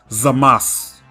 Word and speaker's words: Zamasu: So instead of vocalizing the oo at the end of his name, since it's preceded by an S and is also the last letter of the word, his name is pronounced Zamasu.